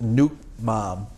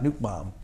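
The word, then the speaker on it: nước mắm: It's pronounced Nut Mam. Nut Mab? Yeah, Nut Mam.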